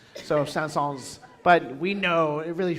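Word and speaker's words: Saëns: He wanted to be pronounced like the city the the town Sans which is not pronounced with an S.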